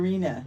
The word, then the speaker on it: Rheana: Rheana. Yeah. So. Did I pronounce it right?